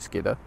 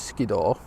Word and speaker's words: Skiddaw: If you're a local, you'll call it Skidder. Most people will know it as Skiddaw. Either's fine, to be honest. But yeah, all I've been doing is just keeping it dead simple.